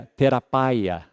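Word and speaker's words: θεραπεία: A palavra grega é terapaia. E a nossa palavra é terapia. Certo? Então aí está essa palavra terapaia na língua original, traduzida por conservos. Agora, ouça bem. Essa palavra terapaia no grego, literalmente, ela significa cura.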